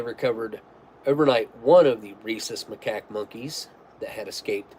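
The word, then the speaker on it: rhesus: escaped in South Carolina reesus monkeys yeah reesus that's how I've heard it pronounced like like a Reese's cup or but it's more reesus reesus maack so reesus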